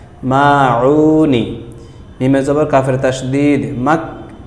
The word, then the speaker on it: الماعون: আবারও দেখুন, সুরতুল মাউনি, আইন গলা চিপ দিয়ে দুই নম্বর মাখরাজ, সুরতুল মাউনি মাক্কিয়াতুন।